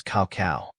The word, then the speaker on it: cacao: English it is spelled as CA the correct pronunciation of this word is CAO cacao means the seed from which cocoa and